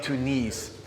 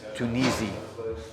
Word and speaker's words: Tunisie: you got it you see it souvenirs de tunis um actually it's tunisi french word french is hard for me to pronounce so cut me some slack souvenirs de